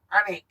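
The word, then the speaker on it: Alnwick: Geordie, it's pronounced Anik, buddy.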